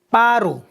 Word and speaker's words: paru: término fructificar proviene del hebreo paru p a r u con acento derivado de la raíz